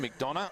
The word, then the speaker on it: McDonough: Proper pronunciation, McDonough.